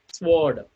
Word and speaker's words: sword: their uh voiceless sounds sword sword why is not pronounced here w devil letter is not pronouncing here resign size that means